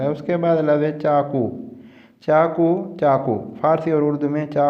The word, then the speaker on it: چاقو: چاقو ہی کہتے ہیں، لیکن یاد رہے جو اصل فارسی والے لوگ ہیں کاف کو غین کے تلفظ کے ساتھ پڑھتے ہیں۔ چاقو لکھا ہوا ہے